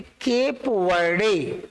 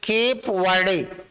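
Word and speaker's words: Cape Verde: रहे हैं तो आपको, पहले हम लोग इसको प्रोनाउंसिएट करते थे केप वर्डे, केप वर्डे। इस विश्व कप में मात्र 5 लाख की जनसंख्या के इस देश को काबो वर्डे कह के संबोधित किया गया।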